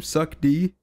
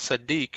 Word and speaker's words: Sadiq: No, seriously, isn't your name Suck D? No, isn't that what he was saying this whole time? Yo, man, have I been saying your name wrong then? If Lloyd, that's right. Lloyd, no, Lloyd, tell him what my name is, man. Oh, hey, his name is Sadiq, man.